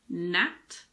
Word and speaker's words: gnat: Well, we don't pronounce the G if it's followed by an N at the beginning of a word. But there aren't that many words like this. Some examples are gnat, gnaw, gnome.